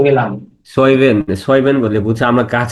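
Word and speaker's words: Zwiebeln: লাল পেঁয়াজকে বলে রোটে সয়বেন। তো সয়বেন যেটা আছে, আমি রুট। তো জেড, জেড ছিল তো আমি বলতাম রোটে জইবেন। জৈবেন হ্যাঁ হ্যাঁ।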